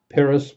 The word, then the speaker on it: Pyrrhus: Got to spell it again. P-Y-R-R-H-U-S, Pyrrhus.